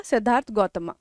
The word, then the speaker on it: सिद्धार्थ गौतम: में बोल देते हैं बट एक्चुअल में इट्स लाइक कि सिद्धार्थ गौतम ऑलराइट ऐसे ही प्रोनाउंस किया जाता है तो इनकी स्टोरी कहां